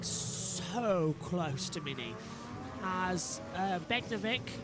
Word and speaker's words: Beganovic: to Mini as Begnovic and is it Beganovic is what you've been saying, isn't it? Is that the Dutch pronunciation for it? Beganovic. Well, that's what I heard when I was listening to Formula Regional. I will go with Beganovic then as well. I went with Begnovic, but I'll go with Beganovic as well.